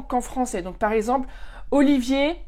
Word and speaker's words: Olivier: Donc, par exemple, Olivier, ça va pas trop parce que Olivier en allemand, on va dire Oliver. Donc déjà, si tu t'appelles Olivier, ben, les Allemands vont avoir du mal ou ils vont dire Oliver.